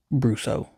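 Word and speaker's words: Brosseau: Brusso. That's how you say it.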